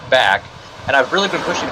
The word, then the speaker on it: BACC: It is not BACC charities. It's a common misconception. I guess with all the capital letters up there, people assume it's supposed to be pronounced as the acronym, but it's actually the word back.